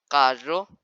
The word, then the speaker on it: carro: When it's written double R in Spanish, or the R is in the beginning of the word, you have to roll your tongue and pronounce it as double R.